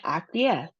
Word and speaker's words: acquiesce: So, we have acquiesce. How many syllables do we have? Ac-qui-esce. We have three syllables. Um so, the emphasis is on the last syllable, -es.